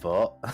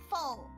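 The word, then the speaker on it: phở: Yeah, it's not pronounced pho like at all. It's like a kind of pho. So, imagine you say the first part of the F word, I guess.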